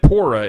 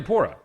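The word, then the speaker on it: Purah: way it is they they pronounce it poora in-game not Pera oh it's not Pera okay no it's apparently poorer yeah there's I think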